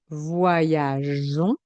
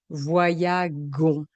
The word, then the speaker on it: voyageons: Pour les verbes qui se terminent en G, on va ajouter un E pour obtenir le son J. Par exemple, avec le verbe voyager, nous voyageons, je vais rajouter le E et ainsi je vais garder le son J. Si je ne mets pas le E, le son sera nous voyagons.